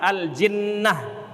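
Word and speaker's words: الجِنّة: Jannah jimnya berbaris fathah kemudian apabila dibaris kasrahkan aljinnah bikasril Jim maknahu aljunun Ail Jin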